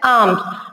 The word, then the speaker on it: alms: Here, arms means here, this L is silent. So we have to pronounce it as arms.